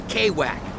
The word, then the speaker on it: Kwak: me out for sure it's Mr quack right call me Kwak that's how I roll over here nobody can pronounce my name right quack quack I'm a